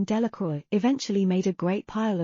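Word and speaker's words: Delacroix: Jones and Dicky diloy the villagers pronounced this name Delroy eventually made a great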